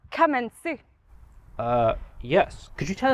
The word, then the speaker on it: Kamentzu: Emily Newton hi Emily in case any of our audience are unfamiliar with kenu it's pronounced kensu uh yes could you